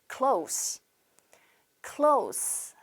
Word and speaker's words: close: close, close. 한 번 더 close라고 발음을 하셔야 합니다.